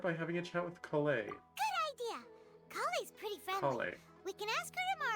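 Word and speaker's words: Collei: having a chat with colay we can ask her it's spelled with an O though why is it making ah sound College so this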